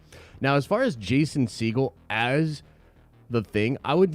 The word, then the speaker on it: Segel: Segal, Jason Segal. Wait, what? It's not? That's not how you pronounce it?